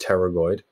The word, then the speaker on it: pterygoid: lateral pterygoid muscles okay it's a silent p there so it's just pterygoid okay the medial and